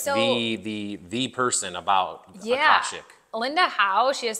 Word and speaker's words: Akashic: Akashic.